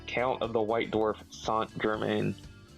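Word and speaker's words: Saint-Germain: However, the card is pronounced is pronounced with his French pronunciation. So, it technically is Count of the White Dwarf Sant Germaine.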